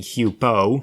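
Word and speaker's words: Huepow: except you can clearly hear the voice saying hupo so the re-spelling h-e-w-p-o-e is just more phonetically accurate it makes more sense and it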